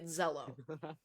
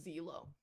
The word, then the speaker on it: Xelo: cuz I've been pronouncing z z okay it's pronounced Z good so I'm post many different pronunciations I saw someone on Tik Tok pronounced it as Zelo that angered me some